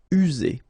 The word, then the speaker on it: user: Remember only one S here and you've got two vowels, so it's Z. User.